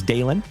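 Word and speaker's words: Dalen: My name is Dalon. D A L E N. There's a reason I tell you how to spell it.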